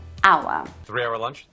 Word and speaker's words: hour: the start this age is silent we don't pronounce it hour three hour lunch three hour lunch three hour